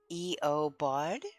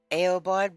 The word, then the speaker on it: Eobard: E-O Bard, normally. So I just say Aobard, but it's Eobard. It's a long E sound.